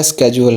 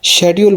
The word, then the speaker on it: schedule: तो याद रखिएगा कि जो ब्रिटिश हैं वो इसको शेड्यूल बोलते हैं या शेड्यूल भी बोलते हैं और अमेरिकन इसको स्केड्यूल बोलते हैं। तो दोनों ही प्रोनाउंसिएशन ठीक है, आप इसमें बिल्कुल कंफ्यूज ना हो। शेड्यूल भी ठीक है और स्केड्यूल भी ठीक है।